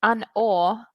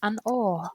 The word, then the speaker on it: An Oa: So it's An Or. That's how it's pronounced. An Or.